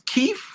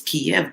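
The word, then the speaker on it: Kyiv: in Kei right now yeah I think it's Kei um the old way of saying it was Kev but it's ke C I saw that like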